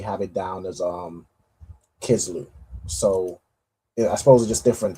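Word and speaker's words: Kislev: it down as um Kisloo. So I suppose just different time periods and different um spellings, but from what I have, it's mostly said as um as uh Kizloo.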